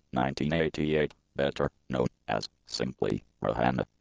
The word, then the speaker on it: Rihanna: Robin Rihanna Fenty, born February 20, 1988, better known as simply Rihanna, pronounced /Rin/Rihanna, is a Barbadian / B recording artist.